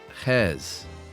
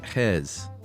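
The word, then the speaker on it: Gijs: And that is from Hes. Nice. Will you spell that for us non-Dutch speakers? At least that's how I was told to say it. It is pronounced, spelled G-I-J-S. Wow. And it said Hes.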